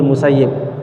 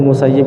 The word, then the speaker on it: Musayyib: yang bernama Said Kidul musayyib ada sebagian para ulama membacanya kalau dia itu banyak Sa'id Ibnul musayyab itu menantu dari para sahabat akuoreo sering membaca Sa'id Ibnul musayyab musayyib katanya ditinggal Said pada saat